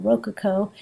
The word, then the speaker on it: rococo: learn to pronounce that you put the emphasis on the first syllable rokuko stress grace and gentle